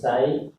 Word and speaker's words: psi: Wave function pronounced as psi.